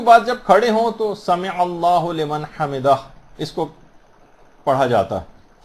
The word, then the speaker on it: سمع اللہ لمن حمدہ: عام طور پر لوگوں کو دیکھا گیا سمع اللہ لمن حمدہ یہ پڑھتے ہیں، اس کو ہو لمن نہیں ہے، سمع اللہ لمن حمدہ.